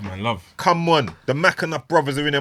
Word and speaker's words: Mcenuff: Come on, the Mackinac brothers are in there. Am I saying it right? You are, bro. Yeah. Spot on, Mackinac you know.